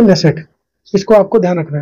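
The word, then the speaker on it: Knesset: Kinnaird पढ़ लीजिए या के साइलेंट कर दीजिए। इंग्लिश में लिख देता हूं मैं के एन E double S ई टी ये इसकी संसद का नाम है कनेसेट या फिर नेसेट इसको आपको ध्यान रखना है।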